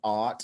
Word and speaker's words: AWT: it's spelled awt um it's pronounced art like ah darling we took a real